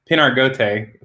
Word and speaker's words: Pinargote: Pinargote for the American pronunciation.